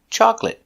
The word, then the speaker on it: chocolate: we pronounce it separate today we're going to practice with these important words that end with a but are never verbs so they're always pronounced with the it short it sound like private certificate chocolate